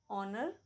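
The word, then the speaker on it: honour: so ever whole समम लेकिन कुछ ऐसे भी वर्ड्स हैं जो एच से शुरू होते हैं पर एच साइलेंट होता है example ऑनर आवर air honest English में हमेशा एक्सेप्शन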